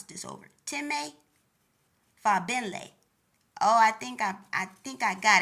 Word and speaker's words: Fagbenle: Time Fagbelli. Let me pronounce this over. Time Fabenle.